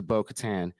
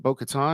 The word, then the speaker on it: Bo-Katan: He tells Grogu to go to Bo-Katan. Am I saying it wrong? Is it Bo-Katan?